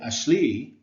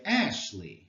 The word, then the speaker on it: Ashley: of not as emphasized we don't say ashle we say Ashley right so Ashley consists of a stressed syllable followed by an unstressed one when you say Ashley allowed the emphasis is on the first syllable and this is how